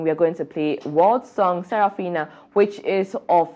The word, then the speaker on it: Wurld: guys um the world his name world is spelled wur l d so just